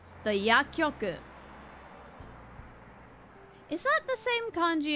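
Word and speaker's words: 薬局: Okay, so when there's a small ts, you don't actually pronounce the ts. Don't worry about it.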